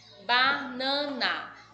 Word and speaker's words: banana: Banana. Neste caso, o nan é a mais forte.